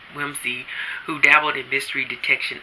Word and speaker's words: Wimsey: a prominent financier but Lord Peter Wimsey I keep the like I'm said his name wrong wimzie who dabbled in mystery